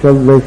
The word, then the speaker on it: सव्व: नमो उवयाणं नमो लोए सव्व साहहुणं ये शुद्ध है और वो वाला जो दूसरा करते हैं नमो अरिहताणं नमो सिंम नमो आयं नमो उजयाणं नमो लोए सब साहहुणं यहां क्या होता है